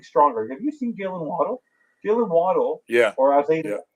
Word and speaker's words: Waddle: have you seen Dylan waddle Dylan waddle yeah as his sisters like to pronounce Waddell because that's actually how you pronounce it the reason he did